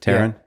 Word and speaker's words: Terran: said that out loud is that how you pronounce it Terran yeah yeah I don't think I've ever seen